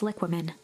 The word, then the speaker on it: liquamen: They were experiment reports on something called Tempus liquamen.